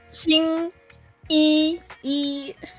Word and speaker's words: Qingyi: Qingyi. Yeah, it's the right word, but if you say Jingyi, it means semen. Okay. Qingyi.